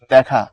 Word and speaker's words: দেখা: দেখা কিন্তু পড়ার সময় তুমি এটাকে পড় হচ্ছে দেখা তখন এই যে এটা এটা উচ্চারণ হয় হচ্ছে এরকম আবার ধরো এই যে